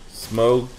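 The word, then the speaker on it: Smough: Because it's like though, but with, instead of a T, it's S-M.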